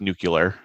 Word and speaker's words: nuclear: Yeah, and I can't wait to ask him about nuclear submarines. It's pronounced nuclear, actually.